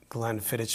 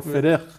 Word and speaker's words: Glenfiddich: So we were schmoozing before, our viewers, that the right way to pronounce it is Glenfiddich. Glenfiddich. Or Fiddich. It's a Gaelic pronunciation.